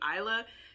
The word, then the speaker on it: Isla: allah sorry i've been i feel like i've been pronouncing it ilya and i it probably should be isla because i like rewatched episode one say three and i was like oh it's isla my bad and then